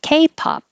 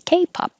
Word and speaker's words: K-pop: K-pop, the stress is on K. K-pop. And again, hold the lips for the P. K-pop.